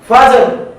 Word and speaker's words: فجر: ফায়ের পরে যে হরফটি হলো জিম, জিমের উপরে সাকিন রয়েছে কলকলা। কলকলা করে রয়ের উচ্চারণ করতে হবে ফাজর।